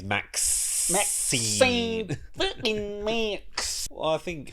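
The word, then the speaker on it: MaXXXine: You have to pronounce it properly. It's Maxine.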